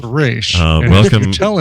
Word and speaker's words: Ra's: So we basically once you've gotten to a certain level, he pulls you aside and says, "I know what it's pronounced Raish.